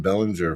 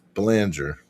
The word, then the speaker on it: Banger: I was calling him Bellinger forever. I'm not doing that anymore. It's how it's spelled. Yeah, but it's Banger.